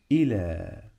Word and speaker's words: الى: الى الى الى الى مقطعين الى اي طالما بقول اي يبقى الهمزه تحت لا في صوت مد هنا بعد حرف اللام الى ممكن حد يكتبها كده ل والف احنا فعلا بننطقها كده الى الى وفعلا هنا عندنا برض الف بس مش الالف دي مش الالف اللي عامله زي العصا لا احنا عندنا الف تانيه بنسميها الف مقصوره الف مقصوره نفس شكل حرف الياء لكن